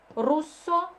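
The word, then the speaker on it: russo: Испаньоло, руссо, тедеско. Руссо читается, две буквы S читается как С. Вот если стоит одна буковка, тогда она читается как З. Вот если две стоит, тогда как С.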